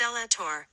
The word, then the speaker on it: Zelator: The word Zelator, pronounced Zelator, is a corruption of the Latin word zelotes, meaning zealous person or zealot.